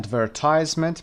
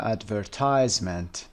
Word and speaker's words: advertisement: کلمه advertisement به این صورت تلفظ میشه advertisement. advertisement استرسش هم روی تایز هست. در بریتیش شکل دیگه میخونن advertisement که موضوع کاری ما نیست و اما مسئله دیگه